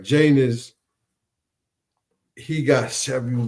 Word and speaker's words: Janus: Janus, pronounced Janos, is the god of beginning.